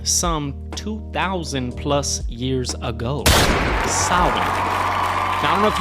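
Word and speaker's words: Samhain: 2000 plus years ago sin now I don't know if you can read it on that poster but it doesn't read like Sinn but I think that's how you pronounce it so ancient Kelts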